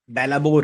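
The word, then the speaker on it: belabor: या फिर दूसरा एग्जांपल समझते हैं इसमें, जैसे इसको समझो, बेलाबोर है, इसको ऐसे भी बोल सकते हैं ना, मतलब इसका प्रोनाउंसिएशन तो बिलेबर है, लेकिन इसको देखो बेला,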